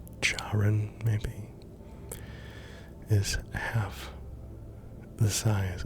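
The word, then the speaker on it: Charon: Sun Pluto's largest moon Karen or chaon depending on your pronunciation charin maybe is half the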